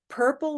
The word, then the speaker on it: purple: so purple shirt words even though the letters are different right this one has a u r this word has ir and word is o r but that should not sound different they sound the same they all are this purple ER sound try it one more